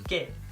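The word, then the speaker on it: 게임: we say game heyo note that the pronunciation of the first syllable changes here it's not k it's gay okay i don't know why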